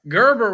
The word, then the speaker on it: Gerber: is top holders Brett Gerber with a hard G was at 817 oh